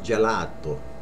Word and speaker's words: gelato: A lot of people say gelato, which is right, but without the accent. It's gelato.